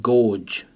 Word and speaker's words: gorge: In gorge, we've got the opposite. We've got a hard G that comes before a letter that is not E, I or Y. And then we've got a soft G because it comes before an E. So we've got gorge.